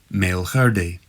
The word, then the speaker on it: Meall Ghaordaidh: GH and DH are a guttural H, e.g. Meall Ghaordaidh.